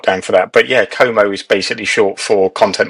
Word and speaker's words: Como: Is that how we pronounce it? It is Como.